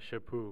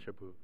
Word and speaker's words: Chaput: say your last name it's a shapoo with no no tea at the end and no uh infas on the cha or it's shapoo shapoo all right we've got it here now uh shapoo uh talk about your